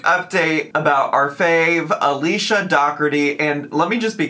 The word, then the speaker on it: Dougherty: It's Alicia with the Dougherty Dozen and this.